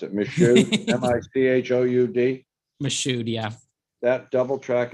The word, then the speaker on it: Michoud: I can't pronounce it. Michoud, M-I-C-H-O-U-D.